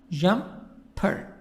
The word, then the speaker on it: jumper: First word, jumper. We have also the word dancer. The stress is in the first part. Jumper. Jump, jump, jumper. So the stress on the first part.